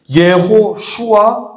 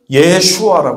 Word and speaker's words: 예수아: 여호수아 우리가 여호수아 하는 이름은 히브리 말인데 히브리 발음으로 하면 예호슈아 그걸 줄이면 예슈아 해요 예호슈아 또는 예수아 그럼 어디서 많이 들어본